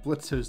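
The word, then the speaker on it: Blitzø: on the wall behind blitz's desk lamp it's Blitz the O is silent how many times do I have to tell you people as I was saying on the wall behind blitzo desk lamp we see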